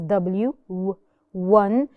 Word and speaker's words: one: one one of course we hear it as W one but we write it